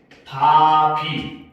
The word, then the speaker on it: 밥이: 밥이가 되고 발음을 하게 되면 바비, 인형 아니죠? 그렇죠? 자, 바비가 됩니다.